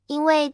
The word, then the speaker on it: 橘: Cam cũng rất đặc biệt ở Trung Quốc vì cách phát âm của chữ "ju" (橘) gần giống với chữ "ji" (吉), có nghĩa là may mắn.